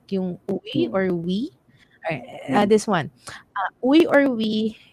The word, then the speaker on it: Uy: In the province, we prefer we than uy.